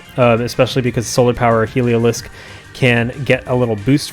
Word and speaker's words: Heliolisk: with volt switch um helio heliolisk i always say helioptile and sarto called me out for that the heliolisk i'm just say it correctly this time heliolisk and uh also passimian